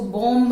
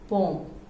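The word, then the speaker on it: bomb: Okay, next one more common word, इसको बॉम्ब नहीं बोलते, बॉम्ब. Clear? So where ever M एंड बी, जहां भी एम एंड be closely attach दोनों एक साथ हैं वहां बी साइलेंट होगा.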